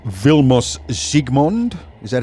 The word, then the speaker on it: Zsigmond: It was Yeah, Zygmunt.